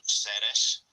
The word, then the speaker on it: Serres: that's the Greek pronunciation, Ceres and Drama. Bien, si esta es como han podido escuchar, pues Ceres en griego se pronuncia Ceres, como se dice en nuestra ciudad en francés.